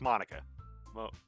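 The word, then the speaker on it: Monika: ] it your name's monica amina how you pronounce it it's monica monica it's delicious sayori uh talks with her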